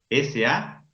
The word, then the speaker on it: salut: se escribe con T final. S-A-L-U-T. Escribo la T, pero ¿qué pasa con esa T? No se pronuncia pas. No suena.